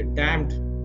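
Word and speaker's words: damned: उच्चारण में ध्यान दीजिएगा अक सेट और डमड में जो एन है वो साइलेंट है डायमंड नहीं बोलते डमड या अकर सेट अकर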